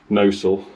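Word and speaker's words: Gnosall: can probably imagine so this is the village where i'm from nozzle that's how you spell it gnos a double l countryside and he said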